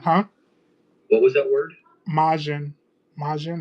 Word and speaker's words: Majin: what was his favorite version and he said majin. So I now know what I'm gonna be. What was that word? I know what I'm gonna be doing. Huh? What was that word? Majin.